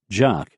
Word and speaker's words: JOC: Colonel M Holland's joint Operation Center or Joc pronounced jock consisted of 20 tents